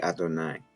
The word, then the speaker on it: Adonai: Sometimes they'll just have a kamans, but a lot of times they'll put that just to remind us, hey, we don't pronounce this. We say Adonai, right?